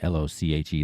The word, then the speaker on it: Lochi: It's @ryanlochi, l o c h i. That's how you pronounce my name, by the way, Lochi.